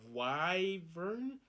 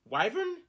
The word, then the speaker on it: wyvern: one yep it is um this is uh why vern wyvern anyway um it's spelt w-y-v-e-r-n that's a weird name i'm just